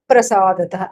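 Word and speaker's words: प्रसादतः: Ganeshasya Prasadatah. Up like this, there should be a doubling of that pra.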